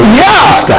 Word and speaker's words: Worcester: So we want Worcester.